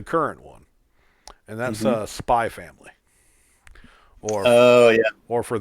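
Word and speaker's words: Spy × Family: one and that's a spy family or oh yeah or for those who read certain mangas keep calling it hunter x hunter x family the x is silent uh is a hilariously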